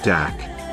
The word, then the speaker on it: dak: This is where we get the name dog star for Sirius, from, the word dog stemming from the Aryan word dak, pronounced similar to the German word dock.